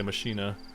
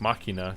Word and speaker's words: machina: this Imperium machina which I know some people gonna say mashina but I think it's actually supposed to be pronounced machina because I believe that's a latin latin word for machine yeah so there's these